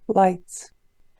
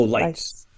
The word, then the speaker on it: lights: What's one word that has an unpronounced graph? Has an unpronounced graphing. Lights.